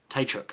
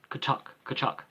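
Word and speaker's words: Tkachuk: Tachuk, it's Kachuk.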